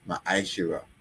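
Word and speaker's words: ma'aser: You can find this in numbers 18 21 and Malachi 38-10 and it means tent in the Hebrew and it's pronounced maisher 10% of every penny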